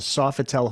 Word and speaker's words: Sofitel: Angeles at the uh I think it's pronounced the Sofitel Hotel is that right yeah body count by now